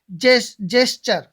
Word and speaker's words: gesture: TURE आ गया, टी के बाद URE आ गया तो क्या आएगा? चर, यानी चे की आवाज आएगी, चे का प्रोनाउंसिएशन होगा। तो जेस्चर, JES जेस और TURE से चर, जेस्चर।